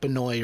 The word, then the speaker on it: Benoist: Benoy Benoist Benoist yeah it's it's pronounced like Benoy or something like that B I don't know